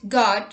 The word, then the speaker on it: guard: U is not pronounced when it comes after G and before a vowel. Let's look at the examples. Guess, guidance, guitar, guest, guild, guard, etc.